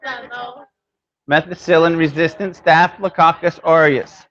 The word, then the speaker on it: Staphylococcus: Methicillin-resistant Staphylococcus aureus. Like coccus, like cockroach, so I think I got it down.